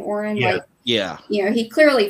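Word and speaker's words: Orin: Oren is that how you say his name Oren yeah you know he clearly found his match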